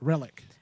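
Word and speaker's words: Rillak: for the federation uh lara relic is how you say it relic now interesting she's i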